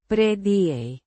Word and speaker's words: predije: Pronounced. Preh-dee-hay. The Ya. sounds like the H in house.